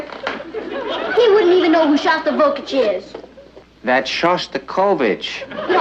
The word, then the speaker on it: Shostakovich: Honey, I think that's pronounced Shostakovich. We'd like to meet Eddie.